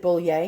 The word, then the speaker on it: Boulle: Now on the top, look at that beautiful Boulle, or bull work. Actually, it's bull work, bull. Boulle. I pronounce it Boulle because I try to get fancy, but it's bull work.